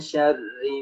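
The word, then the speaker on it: شَرِّ: tipis ri ra di sini kenapa dibaca tipis karena ingat dia berbaris kasrah kalau ra dia berbaris kasrah berbaris bawah maka dia dibaca tipis seperti min syarri ma bukan min syarri ma itu salah cara baca yang seperti itu salah tapi yang benar min syarri ma khalaq khalaq ingat setiap qaf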